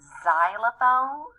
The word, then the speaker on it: xylophone: for X-ray fish but the word xylophone which sounds like starts with a z starts with an X because X is different